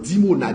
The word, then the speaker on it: Dimona: Iran lancé sous dimona dimona comme ça se prononce dimona i m dimona oui qui t'a blessé dimona